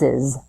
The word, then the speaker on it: Mrs.: sounds like this Miss misses so the pronunciation is exactly the same as the word misses as in he misses